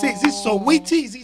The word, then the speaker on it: Saweetie: his famous girlfriend, I don't know how to pronounce it. Is it Saweetie? Is it Sweetie? Saweetie. I thought it was Soweto.